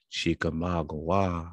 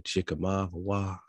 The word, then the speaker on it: Chickamauga: river of death but chica magua which still has the hawaii at the end because the ua is hua even that silent g wah like agua agua agua so it's all while